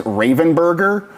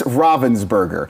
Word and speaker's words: Ravensburger: Bonsai often just says Ravenburger or Robinburger. I'm pretty sure it's Ravensburger.